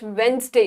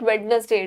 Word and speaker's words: Wednesday: Tuesday, then come the it's Wednesday. It's not Wednesday. D is silent.